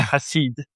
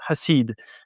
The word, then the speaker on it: Hassid: Yeah, Hasid. In English, Hassid. it's not. It's Hasid. In Hebrew, you say Hasid. French say it differently. I'm from everywhere, so everyone do it wrong, and that's okay. It's Hasid.